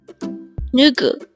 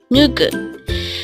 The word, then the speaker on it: 누구: NUGU. NUGU. This is pronounced as a two-syllable word.